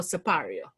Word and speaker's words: Siparia: So I pronounce it, I grew up pronouncing it Siparia. I also hear people pronouncing it Siparia, and I'm like, I don't know where you're from, but okay. But apparently there's a large enough population that says Siparia.